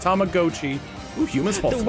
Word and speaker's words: Tamagotchi: Tamagotchi, as we realize it's pronounced Tamagotchi.